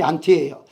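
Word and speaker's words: ἀντί: 그러니까 바로 발음이 안티예요. 영어로 안티 말고 헬라어로 안티입니다.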